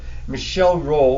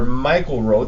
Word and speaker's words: Michel Rolle: However, it was a mathematician by the name of Michel Rolle, or Michael Rolle, depending on how you want to pronounce it, who lived way back in the 16 and 1700s, who published a theorem.